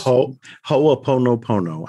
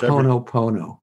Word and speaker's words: Ho'oponopono: I always Ho'oponopono. I just pronounce Ho'oponopono. That's it. I pronounce every syllable.